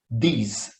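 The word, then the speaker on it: these: um som DF É nesse segundo você vai pronunciar no final no final o som de z então fica deste diz desde os outros são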